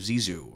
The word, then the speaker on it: Zissou: And I was recommended a bunch of times to watch The Life Aquatic with Steve Zissou, right? Is that how you say it? Yeah. Steve Zissou.